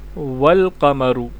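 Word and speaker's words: وَالْقَمَر: का इजाफा कर दें अगर इससे पहले कोई लफ्ज आ रहा हो मिसाल के तौर पर हम वा ऐड कर देते हैं ठीक है अल कमर के शुरू में भी वा ऐड कर दे देते हैं तो यह बनेगा वल कमर ठीक है अगर अहमदु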